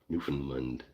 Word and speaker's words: Newfoundland: This is a good Newland with accents with emphasis on Newland. Newfoundland. New Yeah, Newfoundland.